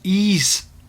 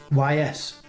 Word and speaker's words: Ys: to sean because he has says the proper pronunciation obviously of the game and that is ease or you could even probably say just yes and there we go he just it does